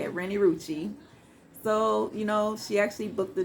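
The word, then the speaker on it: Renni Rucci: That's how you say it, Rennie Rucci.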